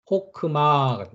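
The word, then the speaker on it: חכמה: 발음을 해 줘야 되고요 그러면 어떻게 발음합니다 호크마 하크가 아니 아니고요 호크 호 오 발음이란 말이죠 호크 마라고 발음을 합니다 그다음에 카메츠 뒤에 자음이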